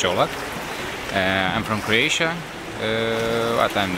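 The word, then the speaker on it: Čolak: yeah i'm gordon jolok this is how you pronounce my last name so it's not cola it's jollof i'm from croatia but i'm the current world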